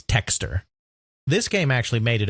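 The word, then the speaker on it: Thexder: we'd probably pronounce it thxer but with the way the Japanese pronounced it it's texture this game actually made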